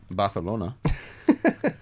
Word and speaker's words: Barcelona: you get Stuart to pronounce Barcelona barthelona that's actually correct I love this yeah